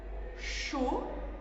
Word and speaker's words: chaud: Chaud finit par un D que l'on n'entend pas, que l'on ne prononce pas mais que l'on doit écrire.